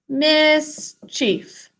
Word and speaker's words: mischief: think to spell mischief the second syllable is like a chief native american chief mischief once again great job